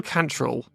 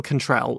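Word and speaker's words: Cantrell: Cannon idel Cantoni Bill canol actually no this is Bill Bill contrell is yeah how the yeah bill contrell not not canol Ivan Capelli Pier Kini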